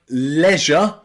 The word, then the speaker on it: leisure: Not very common, but in words like leisure, leisure, be careful because Americans will pronounce this leisure, leisure, but in England we pronounce this with an E, leisure, leisure.